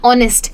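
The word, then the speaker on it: honest: Common words होते हैं आवर, ठीक है, या ऑनेस्ट, ये बहुत कॉमन वर्ड्स हैं, तो इनका प्रोनाउंसिएशन सीख लीजिए और बाकी काम आपका हो जाएगा।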